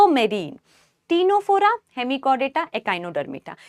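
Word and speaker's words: Ctenophora: टी से टीनोफोरा। टी टीनोफोरा में बेटा सी साइलेंट है।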